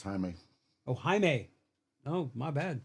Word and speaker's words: Jaime: I thought it said Jamie, because I didn't know they pronounced their J's as H's and all that stuff.